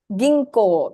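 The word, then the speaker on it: 銀行: it today g g Ginko very good Gino right G inco elongation so how do you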